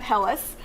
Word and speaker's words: helles: a helles h-e-l-l-e-s um so that's how you pronounce that hellas and those are good um options to get